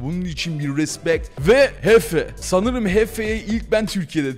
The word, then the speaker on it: Jefe: Kankas, Motive ve Hefe, Yefe değil, geçen yanlış söyledim, Hefe, Yefe yazılıyor ama Hefe okunuyor.